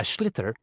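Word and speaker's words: sliotar: you have to get this ball called a schlitter that's s-l-i-o-t-a-r so it's not spelled the way it's pronounced you hit it into the net for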